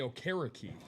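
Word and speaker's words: Okereke: Now, this is going to be hard to pronounce. Bobby O' Carrick.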